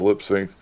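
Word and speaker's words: Lipps Inc: got the bpms listed it's lip sync lips Inc but they it was supposed to be pronounced lipy sync mouth to mouth little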